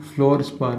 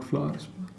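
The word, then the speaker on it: fluorspar: इसको क्या बोलते हैं, फ्लोरस्पार है, नॉट फ्लावरस्पार।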